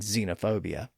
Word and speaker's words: xenophobia: So when an X appears at the front of a word, we usually just pronounce it as a Z or Z sound instead. Thus the pronunciation of words spelled with an X at the front, like xylophone and xenophobia.